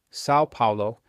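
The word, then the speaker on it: São Paulo: Researchers at the University of Sao Paulo, pronounced Sao Paulo, tracked nearly 20,000 people who started day trading equity futures.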